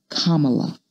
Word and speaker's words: Kamala: First, my name is pronounced Kamala, like the punctuation mark.